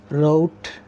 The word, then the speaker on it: wrote: race ring number two w r w is silent here actually for example write wrote read number three RH RH